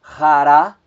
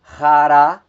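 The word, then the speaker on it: χαρά: O acento agudo, ele acontecendo ou ocorrendo na última sílaba. Nós temos a palavra hará, hará, alegria.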